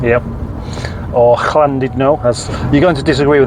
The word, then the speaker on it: Llandudno: But of course, U in Welsh is E, and double L is SL.